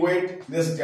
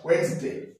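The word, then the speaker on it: Wednesday: তারপর ডাব্লিউ ডি, ওয়েটনেস ডে, আমরা কি ওয়েটনেস ডে বলি, কিন্তু এটা রং। তাহলে কি বলবো আমরা? ওয়েডনেসডে, ওয়েডনেসডে, ডি এর উচ্চারণটা নেব না।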